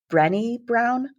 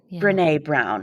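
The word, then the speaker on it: Brené Brown: So I I came across this quote from I'm not sure if I'm pronouncing her name right. Is it is it Breny Brown? Oh Bnee Bnee Brown.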